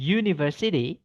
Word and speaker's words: university: Tapi karena bacanya university pakai Y, ya, maka itu eh tidak pakai N, tapi pakainya E.